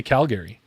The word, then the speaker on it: Calgary: it Calgary or Calgary I say Calgary Calgary I got I got Gary like the guy's name you got the Gary like Cal and Gary they've got barbecue sauce